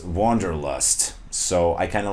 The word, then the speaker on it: Wanderlust: sounds in German, because in German we'd say Wanderlust, but in English it's Wanderlust.